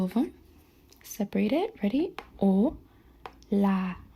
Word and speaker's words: hola: O la. Remember this is silent. You don't say hola.